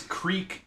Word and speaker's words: Kriek: And that is Creek as in like the Belgian style, the fermented fruit beer, cherry beer. It's spelled Kriek.